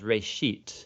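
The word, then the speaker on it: ראשית: It's pronounced reshit, and it just means beginning.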